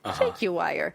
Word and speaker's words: jaguar: A jaguar. If you want to say it like in the British sense, jaguire. A jaguar.